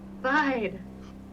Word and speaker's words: Vide: Vide. Like die rolling. My brain. It rhymes with tide.